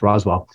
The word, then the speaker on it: Roswell: Rob uh Rob uh Rose Roswell I uh I always mispronounce it but it's Roswell and uh so he